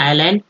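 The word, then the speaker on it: island: टू गो टू द आइलैंड एस को silent रखा गया आइलैंड एट वंस गगन गगन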